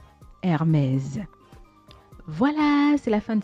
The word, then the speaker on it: Hermès: Mais lorsque vous la citez, ne dites plus Hermès. Ne dites plus Hermès parce que le S à la fin, ça se prononce plutôt comme un Z. Donc, il faut dire Hermès. Hermès.